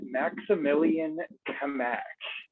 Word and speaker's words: Maximilian Kamak: $ Maximilian Kamak is the correct pronunciation of that, and that's MaxImilianKMak.